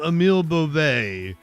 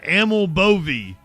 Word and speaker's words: Emil Bove: to say it like I tried to call him Emil Bo, but apparently his name is uh Aml Boie. Like that's how you say.